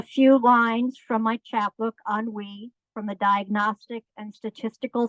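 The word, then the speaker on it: ennui: lines from my chatbook on we from the diagnostic and statistical Field Guide of feminine disorders here's a tip for you authors one-word titles two syllables at most pronunciation on we on we also Henry definition particular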